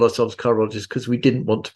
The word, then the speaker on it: chirologist: And I was going to call you a chirologist. Am I pronouncing that right?